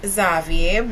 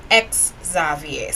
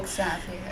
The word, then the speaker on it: Xavier: and he corrected me he said her name is pronounced ex zavier so Exavier I am not sure